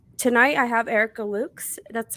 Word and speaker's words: Erica Lukes: Tonight, I have Erica Lukes.